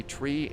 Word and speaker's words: three: Uh Monica, why do controllers sometimes say tree instead of three? That is a specific pronunciation that you are supposed to use on the radio. Like you would say, you know, for the number nine, you would say niner because nine also means no in German.